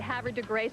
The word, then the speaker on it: Havre de Grace: Yeah, Havre de Grace has so much more class and dignity, but we'll go with the local pronunciation here outside of Baltimore.